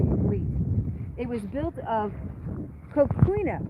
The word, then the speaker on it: coquina: Augustine were made of, this is how we pronounce it, coquina.